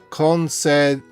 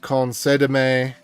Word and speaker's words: Concédeme: in, whoops, is called Concédeme. How do you pronounce that? Concédeme. Because it's got an accent there, so I'm assuming that that's where the emphasis is supposed to be.